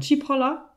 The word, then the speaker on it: Cipolla: Wie hast du den Nachnamen ausgesprochen? Cipolla.